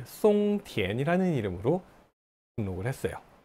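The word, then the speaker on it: 松田: 등록합시다 라고 처음에는 이 송티엔이라는 이름으로 등록을 했어요. 일본어로는 마츠다라고 발음을 합니다. 근데 중국어 발음은 어떻게 읽어요? 송티엔이 되는 거예요.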